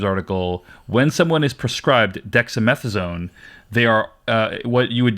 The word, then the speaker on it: dexamethasone: And then the third day today is when we found out he also has dexamethasone. Am I pronouncing that correctly?